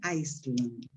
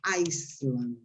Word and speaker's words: Iceland: When we talked about, pronunciation, this is an island, no Iceland. Island. Yeah? The country in Europe, in North Europe, that is an Iceland. Right? Be careful because it's different. Island and Iceland.